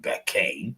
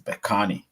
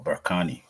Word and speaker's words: Bekani: an English name, so it's definitely not Bekane. No, it's Bekani or Berkani if you want to pronounce. Or if you want to pronounce, some people say Berkani.